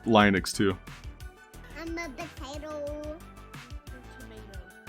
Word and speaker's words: Linux: But Linux is always Linux. Oh, Linux But is always Linux.